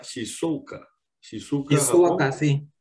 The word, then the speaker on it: Shizuoka: Él es graduado de Escuela de Ingeniería de la Universidad de, no sé si se pronunciará Shizuoka, Shizuoka, Japón. sí. Shizuoka.